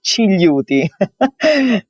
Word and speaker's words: Cigliuti: First of all, I apologize for my last name, which is so complicated to pronounce. It's Cigliuti.